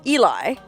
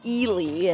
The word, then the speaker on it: Ely: of people see it written and think it's pronounced eli eli's coming had your heart girl no it's actually eely and i don't know why they pronounce it